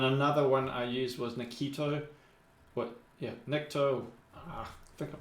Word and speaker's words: Nikto: And then another one I used was Nikto. Nikto. I think I'm pronouncing it right.